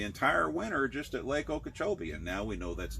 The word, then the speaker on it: Okeechobee: How do you pronounce that one in Florida? Okeechobee, Lake Okeechobee in Florida.